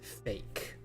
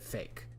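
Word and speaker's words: PHEIC: the new pandemic uh spelled p h e i c and pronounced fake you pronounce it fake so you would literally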